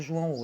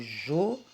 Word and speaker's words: João: Eu não falo João o, eu falo João, né? Então, João. A palavra João é uma oxítona.